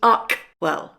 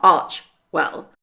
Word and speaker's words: Archewell: Hold on, if it's a Greek word, the CH should be pronounced K, so it should be Archewell, not Archwell.